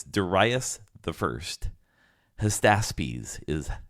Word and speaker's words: Hystaspes: Hystaspes is how you say the entire name.